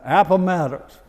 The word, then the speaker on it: Appomattox: Appomattox.